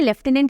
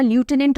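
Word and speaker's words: lieutenant: मैं क्लियर कर दूं, ऐसा नहीं है कि लेफ्टिनेंट ही राइट होगा, ल्यूटेनेंट रॉन्ग हो जाएगा। No, British English, American English, British pronunciation, American pronunciation की वजह से डिफरेंस है। आप इसको लेफ्टिनेंट भी पढ़ सकते हो, आप इसको ल्यूटेनेंट भी पढ़ सकते हो। Even ल्यूटेनेंट इज not wrong.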